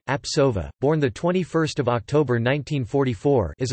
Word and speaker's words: Jean-Pierre Sauvage: Jean-Pierre Sauvage, French pronunciation, Apsova, born 21 October 1944, is a French coordination chemist working at Strasbourg University.